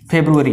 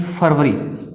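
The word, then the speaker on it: February: फरवरी यानी फरवरी, लेकिन इसका जो प्रोनाउंसिएशन है वो होगा फेब्रुअरी, न कि फरवरी, न कि फरवरी, फेब्रुअरी, फेब्रुअरी, न कि फरवरी।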